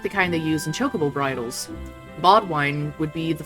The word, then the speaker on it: chocobo: That's not how you say chocobo. Chocobo. You say chocobo. Chocobo. There's no E at the end, so Chocobo. it has to be ah instead of O.